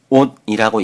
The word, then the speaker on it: on: 결론에서 ON이란 단어는 온이라고 읽습니다. 명심할 것은 ON이란 단어는 온이나 언이 아닌 다르게 읽어서는 절대로 안 됩니다.